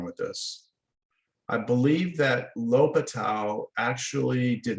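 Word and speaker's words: L'Hôpital: talk about what's called l'hopital's rule now the way it's spelled it looks like the hospitals or something like that but it's it's pronounced l'hopital l'hopital yeah i've heard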